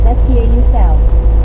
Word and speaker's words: Stau: Only German I know is STAU Stau. Lampus Cat. Halo Craig. Marlene STR. Hi Craig. Buddy Reed 1. Hello Kenwood. Hey, Buddy Marlene Reed. STR. Pronounced STO LOL means traffic.